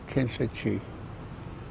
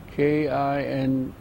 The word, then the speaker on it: Kinlichee: I was born north of Ganado, Arizona, a place called Kinchachi. What? How do you say it again? Kinchachi. Ah, Kinlichee.